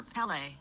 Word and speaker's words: Pele: How do you say boys for Pele or Peel? Boys for Pele.